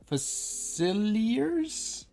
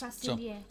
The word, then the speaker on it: Facilier: I'm guessing it's supposed to be French because this is New Orleans. Facilier. So, Facilier.